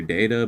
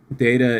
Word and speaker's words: data: Well, I said I said data and then I said data. I don't know. I pronounce it I pronounce it either way. I don't have a preference on that one.